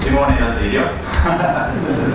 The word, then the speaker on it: Simone Dal Zilio: So I'm Simone Dal Zilio, the right pronunciation.